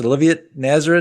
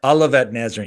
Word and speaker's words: Olivet Nazarene: played uh collegiately at Olivia how do you pronounce Olivia nazarin Olivet Olivet Nazarene yeah sorry guys sorry to everyone small school